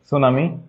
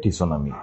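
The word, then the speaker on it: tsunami: রাখতে হবে সেটা হচ্ছে নরমালি টি আর এস থাকলে সেখানে আমাদের টি এর উচ্চারণ হয় না ওকে আমাদের পি আর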